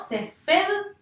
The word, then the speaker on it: césped: Yo digo césped. ¿Yo tengo la fuerza en la última sílaba? No. Digo césped. O sea que la fuerza va a estar en la penúltima sílaba.